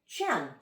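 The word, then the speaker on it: 乾: If we're pronouncing the I Ching, this symbol in Chinese, it's Qian today, if you want to practice that.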